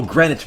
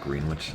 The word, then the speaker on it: Greenwich: Yeah, oh, Greenwich Mean Time. That's right, not Greenwich.